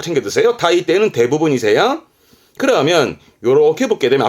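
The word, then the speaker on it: 大抵: 타이테 이에니르, 타이테 우찌니르 하면서 대부분의 부사로 이 한자를 쓰는데 한자는 많이 보이지 않고요. 발음은 꼭 챙겨 드세요. 타이테는 대부분이세요.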